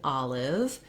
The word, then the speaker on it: olive: word and then um the letter i in olive is the e sound it's an unstressed syllable it's fairly short and it's that lac